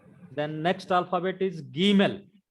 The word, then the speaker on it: Gimel: Then next alphabet is Gimel. That is G in gift.